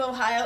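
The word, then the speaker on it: おはよう: I would say ohayo-gozaimasu Ohio because I'm s I know that's kind of a mouthful so we'll break that down a little bit think of Ohio like the state of Ohio it spelled a little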